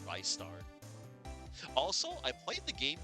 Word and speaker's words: Ristar: Cause yeah, for a long time, I remember the first time I saw that name, I saw it as Ristar, but I think it's pronounced Rystar.